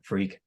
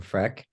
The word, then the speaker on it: Freq: well first off a lot of people actually pronounce it wrong a lot of people say freck I don't know why people say that but